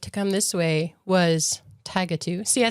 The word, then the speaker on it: Tigatu: So when you left Everett to come this way was Tigatu.